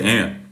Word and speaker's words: aunt: but no but no aunt is spelled a u n t an is spelled n t i mean I'm saying it right I was just curious I mean I say ant but I mean I